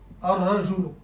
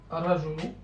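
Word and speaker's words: الرجل: Donc, l'aura, il est solaire, donc il va prendre une shadda. Ar-rajulu. Ar-rajulu. Donc, A, Ra, Joulou. Ar-rajulu.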